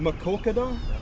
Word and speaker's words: Maquoketa: Or how do you pronounce Maquoketa. it? Maquoketa?